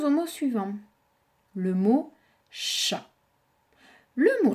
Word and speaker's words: chat: Le mot chat. Le mot chat a une lettre muette également. D'accord? Chat, c'est C-H-A. Hein? Le T ne se lit pas.